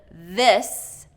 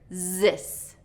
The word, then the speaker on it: this: So commonly I'll hear instead of this, this, I'll hear zis, zis.